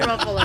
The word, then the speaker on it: Ruffalo: Ruffalo, yeah. Ruffalo, Buffalo.